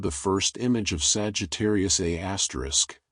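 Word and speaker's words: Sagittarius A*: There, about 26,000 lighty years away, lurks Sagittarius, a asterisk, pronounced a star, a super massive black hole with the mass of about 4 million suns.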